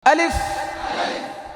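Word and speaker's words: ألف: আলিফ, শেষের ফাটা দেখছেন নি কি করছি, এটা করতে হবে। আলিফ, ফায়ের আওয়াজটাকে চালু রাখতে হবে।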